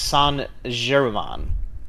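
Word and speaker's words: Saint Germain: of season four oh and adam says it's pronounced san jeremon oh okay which is why they said it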